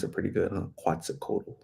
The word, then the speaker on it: Quetzalcoatl: Alira Quetzalcoatl. I think that's how you say it, right? I think I pronounce it pretty good, huh? Quetzalcoatl, right?